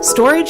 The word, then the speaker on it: Storj: Storage is a cloud shared by the community. Storage is how they pronounce it. I pronounced it Storge.